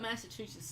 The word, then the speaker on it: Massachusetts: He put Massachusetts like $2 billion in debt in like a year.